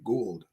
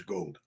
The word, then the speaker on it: Gould: Oh, it's Robbie Gould. Right. Oh, I thought it was gold. Well, it's spelled like that.